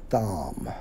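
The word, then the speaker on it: תָּם: According to the Hebrew, Strong's H8535, pronounced as Tham, which means complete, morally innocent, having integrity in regards to the laws, statutes, and the commandments.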